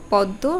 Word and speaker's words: পদ্ম: সাথে ম ফলা বসবে সে এই বর্ণটি দুইবার উচ্চারণ হবে যেমন অকস্ত ভর্ষ আত্ম গ্রীস্য ছদ্দ পদ্ম রশ্মি এই যে শব্দগুলো দেখবে যেখানে ম ফালা